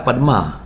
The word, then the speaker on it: padma: Kalau padam tak merah ke tak? Tak merah dah. Dia sebenarnya merah padma. Padma. Padma. Bukan padam.